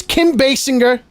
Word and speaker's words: Kim Basinger: Night Shyamalan no it's M Night Shyamalan it's Kim Basinger and it's Gil gadat that's how you pronounce those names I'm sick of it if